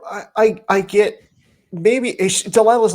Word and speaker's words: Delilah: I just read I just read strong it's Delila so just so you know just don't don't even don't use your own name wrong and if anyone that's what that is